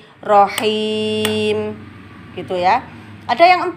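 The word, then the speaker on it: رحيم: Kemudian sehingga bacanya bukan rohimi tapi rohim, him.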